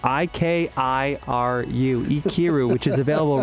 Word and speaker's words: Ikiru: 1952's Ikiru, I-K-I-R-U, Ikiru, which is available right now on HBO Max, Criterion, and John's Canopy.